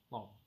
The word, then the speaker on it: L'Homme: with the name L'Homme, which is capital L apostrophe capital H-O-M-M-E, like homme but with an L, L'Homme.